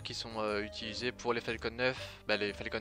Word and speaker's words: Falcon: La fusée Falcon 9, Falcon 9 si on la prononce à l'anglais. Même Faucon 9 si on veut prononcer tout en français, mais sauf que Faucon 9 c'est moche, Falcon 9 c'est plus beau.